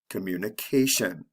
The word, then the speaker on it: communication: Notice that in the last column, with the TION, the stress comes right before the ending. So it's the second to the last syllable, communication. Now with the verb form,